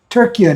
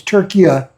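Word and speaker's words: Türkiye: Although, I think they're pronouncing it Turkiye now instead of Turkey, it's Turkiye.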